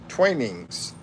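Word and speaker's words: Twinings: Uh, Twinnings is pronounced tweenings. Twainings.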